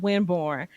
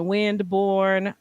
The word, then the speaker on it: Winborne: a lot of times people would would mess up Winborn by adding a d you know saying windborne um sometimes people would pronounce it with the L like Wilborn um and I think